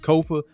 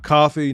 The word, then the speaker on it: Kofa: I am your host, Kofa, K-O-F-A, not coffee, not kufu, not Kofi, or any variation thereof. Kofa rhymes with sofa.